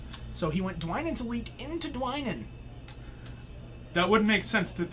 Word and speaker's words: Dwynen: So I pronounce it Dwynen. It's Dwynen. There's a Y there. It's Dwynen. It's not Dwynen, it's Dwynen.